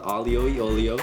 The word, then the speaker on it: aglio e olio: alio e olio olio so in italian it's called alio yolio translated it means garlic